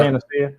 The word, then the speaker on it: Panacea: Panacea? Yeah. Panacea.